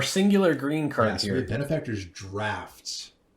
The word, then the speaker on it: Draught: Benefactor's Draft. Okay, people, it's pronounced draft. DRAUGHT, draft.